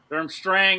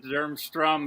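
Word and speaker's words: Durmstrang: we'll go to eigor Derm Strang Derm Strang is correct Derm strum is not phonetically correct I give you took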